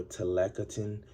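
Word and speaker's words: tlacotin: The Aztecs slaves were pronounced as telacoti, that's singular, or telacotine, that's plural, for a slave.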